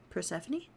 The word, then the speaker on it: Persephone: Persephone? Okay. I knew that was correct. I don't know why, for like the past, I don't know how many years, but my brain wants to say Persephone.